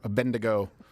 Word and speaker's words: Abednego: Or Abednego. Did I pronounce that correctly?